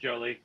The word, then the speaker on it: Joly: mean Jolee? Oh, is it Jolee? Thank you. It's Jolee.